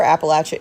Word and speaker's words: Appalachia: were called Appalachian and the cultural reason for Appalachia is pronounced Appalachia um there's a third syllable like